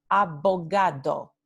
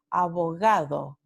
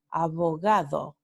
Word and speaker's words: abogado: Pero ningún hablante nativo del español dice abogado. Esto no se pronuncia en español por los hablantes nativos cuando están hablando a ritmo regular. Entonces, lo que sí dicen los hablantes nativos es abogado, abogado, ¿sí? Una versión mucho más suavizada, digamos.